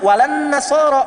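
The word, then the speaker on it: وَلَا النَّصَارَى: Cuman kita bacanya pakai kan alif lamnya syamsiyah tuh. Ya, lamnya masuk ke nun, walan nasara. Padahal itu tulisannya la, wala an nasara.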